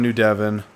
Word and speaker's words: New Devon: We just found New Devon. That's how you pronounce it.